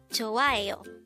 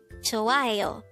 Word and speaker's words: 좋아해요: 좋아해요. This is pronounced as a four-syllable word. The first syllable is 좋, second syllable is 아, the third syllable is 해, and the fourth syllable is 요.